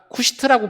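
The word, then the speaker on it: כושית: 십보라가 죽은 이후에 이 구스, 히브리어로 이 구스가 쿠시트라고 발음을 합니다.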